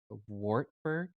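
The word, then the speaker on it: Wartburg: for a master's program at and I'm gonna mispronounce it wartberg the Theological Seminary you got it perfect that's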